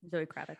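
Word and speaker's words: Zoë Kravitz: Zoe Kravitz.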